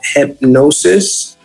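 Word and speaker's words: Hipgnosis: to a publicly funded company called hypnosis um and it's spelled h-i-p-g-n-o-s-i-s and it's a um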